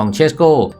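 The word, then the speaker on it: Šeško: และ นอก สนาม โดย ตัว อักษร S ใน ชื่อ สกุล ของ เชสโก เป็น อัก อักษร พิเศษ อ่าน ออก เสียง เป็น ช้าง ไม่ ใช่ ส เสือ ยก ตัว อย่าง เช่น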